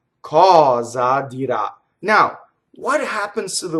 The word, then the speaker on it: dirà: So you can say cosa dirà or cosa dirà, right? So I accented both. Cosa dirà, right? So the accent is on the a of dirà, and that is actually the strongest accent in the sentence.